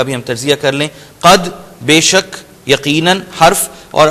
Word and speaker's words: قد: قد میں پچھلی مرتبہ بتا چکا ہوں، قاف کو انڈر لائن یہاں بھی کر لیں اگر ابھی بھی تلفظ میں کوئی گڑبڑ ہے.